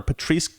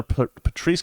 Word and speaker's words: Patrisse: police it's funny that her name rhymes with police i never never noticed that blm founder patrice con man colors resigns